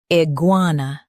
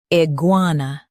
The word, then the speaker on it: iguana: Iguana. Emphasize gua and keep n light.